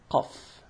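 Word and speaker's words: قاف: So before we run out of time, let's go to pronouncing examples of pronouncing the ka and the qa. So here we go. Ka, kaf. Ka, kaf. Qa, qaf.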